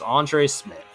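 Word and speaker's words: Andre Szmyt: kicker, Andre Smith, who, if you look at his name, you would not guess it's pronounced that way, but it's Andre Smith.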